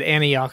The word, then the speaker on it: Antioch: And then he went 200 miles away to Antioch, California. Okay, gotcha. It's at least, is that how you pronounce it?